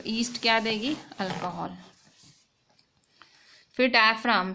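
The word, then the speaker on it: diaphragm: ये है डायफ्राम, डायफ्राम उसमें जी साइलेंट है, ठीक है। ये डायग्राम वाला डायग्राम नहीं है, ये डायफ्राम है, ठीक है।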